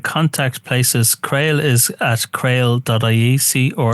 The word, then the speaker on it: CRAOL: Yeah, so the contact places, Creole is at creole.ie, C-R-A-O-L. Sorry, I've been mispronouncing that, haven't I? It's Creole. Sorry, I kind of wrote it down.